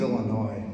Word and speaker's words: Illinois: You know, because S is silent, and it's very sad and all that. No, he means Illinois, because, just a little factoid there.